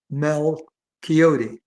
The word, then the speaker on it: Malchiodi: And I'll tell you how I got it because my last name is pronounced Mel Coyote.